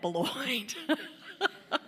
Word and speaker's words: Boilott: b and my name is spelled like boilot so if you're confused and think I'm somebody else I'm not I'm booy and I wanted to